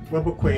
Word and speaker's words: Webequie: Webequie is the proper pronunciation. I did ask at the airport.